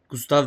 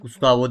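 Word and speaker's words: Gustave: Gustav Gustav diye telaffuz ediliyormuş. Gustavo diye değil.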